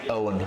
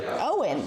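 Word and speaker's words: Eoghan: It's Owen. Owen.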